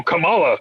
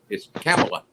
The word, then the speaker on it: Kamala: __ ] it's spelled it's spelled the same and everything kamala but she says it come kamala camila kamala camille we